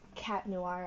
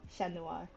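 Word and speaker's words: Chat Noir: Also, excuse me for pronouncing Um, cat noir as sh Noir. I prefer to I prefer to say sh Noir. It's It's kind of how the French say it, so like I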